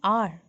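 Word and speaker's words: hour: देखिए, जब हम आर और ऑनेस्ट को बोलते हैं उसके साउंड पे ध्यान दीजिए। जब मैं आर ऑनेस्ट प्रोनाउंस कर रही हूँ तो उनके साउंड में ओ आ रहा है और ओ वावल है, इसलिए मैंने इनके आगे ए एन एन लिखा है।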